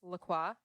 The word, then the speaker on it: LaCroix: a key lime flavored lacroy often pronounced laqua um and it is